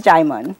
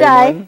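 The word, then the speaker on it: Djimon: His name is Jaimon. So hi, Jaimon? Jai. Yes, D-J-I-M-O-N. It's a Yoruba name. D-J-I-M-O-N. Jaimon. So the D is silent.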